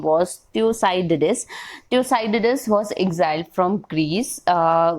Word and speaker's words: Thucydides: It can be pronounced as Thucydides.